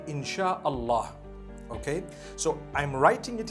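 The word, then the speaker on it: Insya Allah: s-y-a they pronounce it they pronounce the s-y the way we pronounce s h so they can write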